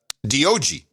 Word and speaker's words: Dog: But I pronounce it D-O-G.